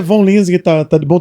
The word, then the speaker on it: Von Linsingen: O nome, a a pronúncia em português é Von Linzing, hein, né? Mas a pronúncia vem do alemão, né, que daí o V, daí é F, daí vira um fom. Aí é coisa assim. Mas é Von Lins que tá tá de bom tamanho.